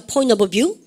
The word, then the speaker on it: point of view: 여러분 발음가 point of view. 여러분 물론 포인트 오브 뷰 하시겠지만 트 발음 안 해야 되죠.